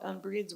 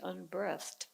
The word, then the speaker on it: unbreathed: I learned that the piece is, instead of unbreathed, I've always thought unbreathed was how to pronounce it, but apparently it's supposed to be unbreathed.